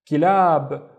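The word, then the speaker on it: كلاب: It's ki because of the kasra, ki. And the second syllable is lab. Lab. Again, remember, this is just la and alif, and this is how it looks like when it's connected. Kilab, and kilab yani dogs.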